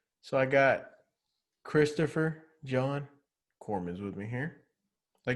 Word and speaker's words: Cooremans: the way you did corman's with the s at the end some people don't they